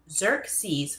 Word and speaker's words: Xerxes: It's pronounced Xerxes.